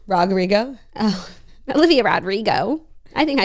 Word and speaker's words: Olivia Rodrigo: said yeah but that's her name rrio oh Olivia Rodrigo I think I said that was right yeah